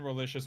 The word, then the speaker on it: Relicious: I have been Relicious. My name rhymes with delicious.